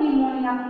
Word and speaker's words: pneumonia: देखिए निमोनिया किस तरह, देखिए पी साइलेंट होता है बेटा यहाँ पर, तो निमोनिया PNEUMONIA निमोनिया हो जाता है।